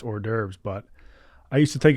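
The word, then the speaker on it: hors d'oeuvres: French thing to mispronounce mine is mine is hores divor hores divor I can't really pronounce any French words right I mean I can pronounce or derves but I used to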